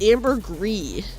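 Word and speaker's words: ambergris: It's called amber gree. I think that you don't pronounce the s. And it's like um it's like some substance from inside a whale. I don't I don't exactly know what amberree is other than it's gross eating oatmeal.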